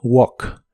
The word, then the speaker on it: walk: de inglés es w la a se pronuncia como o y la l de esta palabra no se pronuncia solo Walk Walk en el presente la